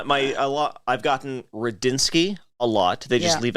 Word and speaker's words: Rudzinski: it it is a it's an intimidating name to look at but it does sound exactly the way that it's spelled I say I